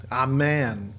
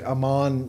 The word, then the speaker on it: Amman: And that's how you say Amman. It's actually Amman. So if you ever hear them on the news say Amman, Jordan, they're saying it wrong.